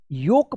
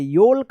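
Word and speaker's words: yolk: योक पढ़ेंगे। योल्क मत पढ़िएगा। योक पढ़ेंगे। क्या है? यहां पे भी एल साइलेंट है और यहां पे भी एल साइलेंट है।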